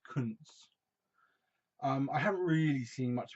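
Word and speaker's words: Koontz: It's pronounced Kuntz.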